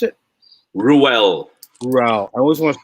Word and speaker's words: Ruel: How do you pronounce it? Ruel.